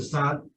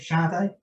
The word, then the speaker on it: Sade: And I kind of got into Anne Pagel, and she was like their kind of answer sad. Was it Sade? That's right. I think that's what right way to say.